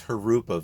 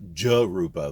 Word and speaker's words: Jurupa: free to correct me i'm pretty sure it's harupa valley my that's how my mentor pronounces it and he lives in this area so harupa valley uh not jeruba valley it's like uh jose right j-o-s-e it's not jose it's not joe's it's not josie it's jose so harupa